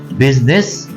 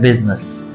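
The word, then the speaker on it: business: इन्होंने वर्ड पूछा है बिजनेस, तो ये वर्ड दो तरह के हैं। अगर हम बरतानवी प्रोनाउंसिएशन को फॉलो करेंगे तो ये है बिजनेस, और अमेरिकन को फॉलो करेंगे तो ये है बिजनेस।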